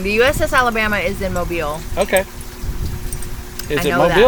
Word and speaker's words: Mobile: And that is in Mobile.